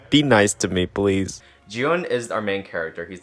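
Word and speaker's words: 기훈: this pronunciation, looking back, in Korean, It's pronounced more like Gi-hun when I was just watching it back. And then in the English dub, it's Gi-hun.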